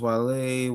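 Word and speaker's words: Guale: It's pronounced Wale, where an indigenous nation who lived among the Georgia coast and sea islands from Savannah River down to St.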